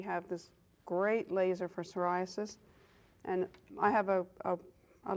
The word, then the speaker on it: psoriasis: pronounce it all right it's psoriasis like pneumonia how do you say pneumonia yeah right that's the English language for you right I don't know okay so it is psoriasis and again like I